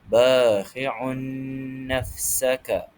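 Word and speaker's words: باخعٌ نفسك: Cara bacaannya ialah dibaca dengung sebanyak dua harakat. Jadi cara bacaan yang sebenar ialah bakiun nafsaka. Bakiun nafsaka.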